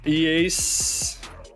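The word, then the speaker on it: Ἰησοῦς: So this is Jesus, but it's actually pronounced that's a smooth breathing mark, so Iesos, which is Jesus and Joshua.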